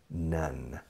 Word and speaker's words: none: Si son tres o más, all, none. How many nuns are there in your family? ¿Cuántas monjas? None. Escrito none, se pronuncia igual que monja.